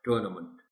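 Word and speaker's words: tournament: टूर्नामेंट, ये फिर वो मंट साउंड आ गई, बाकी इसमें आसान है. टूर्नामेंट.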